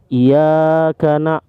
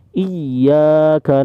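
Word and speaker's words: إِيَّاكَ: Jadi gak boleh bacanya iya karena itu salah ya teman-teman, itu salah. Jadi ini bacaannya harus ditekan ya karena ada tasdid iyanya. Iyyaka na'budu wa iyyaka nasta'in.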